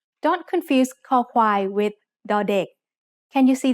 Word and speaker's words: คอควาย: คอควาย makes the sound k when it's the initial consonant in a syllable. It sounds like the letter K in kite or the C in cup. As a final consonant, คอควาย makes a K stop, a dead sound.